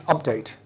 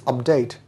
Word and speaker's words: update: is a noun it's update when it is a verb it's update just like when it's